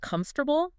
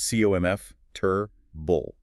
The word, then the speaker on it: comfortable: Take the word comfortable. If you look at the spelling, it looks like four distinct syllables, right? Comfortable. But if you try to pronounce all four, you sound highly unnatural. So you draw a syllable map. You literally draw three boxes. CO MF Turbull.